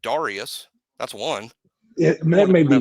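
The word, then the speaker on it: Dareus: There was a guy in Alabama recently, and everybody had been mispronouncing his name all across the board. And when he graduated, he was like, "That's not how you say my name." Marcel Darius. Who was it? Was it Marcel Darius? Marcel Darius wanted everybody to pronounce it Darius.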